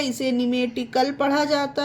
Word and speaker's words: pneumatic: ये देखिए PNEUMATIC इसे पढ़ते हैं निमेटिक। निमेटिक, अब यहाँ पर पिनेमेटिक नहीं लिखा गया है, ना ही पढ़ते हैं इसको, क्योंकि यहाँ पर पी साइलेंट है। और पी साइलेंट क्यों है? क्योंकि पी के बाद यहाँ पर एन आया है। ठीक है गाइस, पी के बाद एन आए तो पी साइलेंट रहेगा, तो इसे पढ़ते हैं निमेटिक।